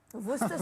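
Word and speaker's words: Worcestershire: How do you say this? Worcester sauce. You say sauce. What do you say? Vora sauce.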